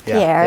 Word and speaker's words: Pierre: Pierre, which is how they pronounce Pierre, the capital.